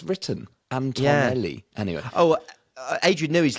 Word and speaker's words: Antonelli: its own emergency podcast you've been you've been saying and I quote anelli which a lot have but it's actually Antonelli we think yeah I